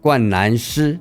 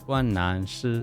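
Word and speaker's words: 冠蓝狮: Actually, I say 大金工. Actually, I look at it online. They don't say 大金工. They saying 冠南狮. 冠南狮. Lion, like a lion.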